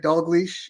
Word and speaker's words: Dalgliesh: looks it looks impossible you said it right dolash it's actually a lot easier than it than it looks right uh it's a Scottish name for those of you